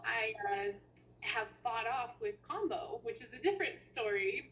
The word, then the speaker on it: Kambo: uh what is combo so combo and it's spelled k-a-m-b-o um it is a